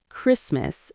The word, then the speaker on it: Christmas: I decorate my Christmas tree. In the word Christmas, the T is silent.